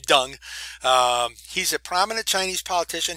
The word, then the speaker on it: Deng: is done and yeah that is how you say his name dung he's a prominent Chinese